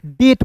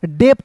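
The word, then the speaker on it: debt: यानी कि यहां पे बी साइलेंट होगा तो इसे पढ़ेंगे दोस्तों डेट पढ़ेंगे। क्या पढ़ेंगे? डेप्ट नहीं पढ़ेंगे।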